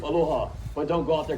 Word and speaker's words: aloha: Sometimes you see people or luau's yell the word aloha or drag that word on, but as our beloved Queen Lili'o Kalani says, that changes the meaning. The proper way to say aloha is a warm and brief aloha, but don't go out there correcting locals, alright?